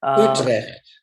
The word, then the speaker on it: Utrecht: year with Albert Visser from, and I cannot pronounce this, I'm sorry, Utrecht University? Utrecht.